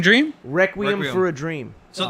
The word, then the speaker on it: Requiem: Reckoning Dream? Requiem, Requiem.